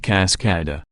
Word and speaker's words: Cascada: The company is trying to do the same thing for the 2016 Buick Cascada, pronounced Cascada, waterfall in Spanish, a truly international four-seat convertible.